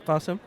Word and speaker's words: Qasim: Qasim, but that's okay.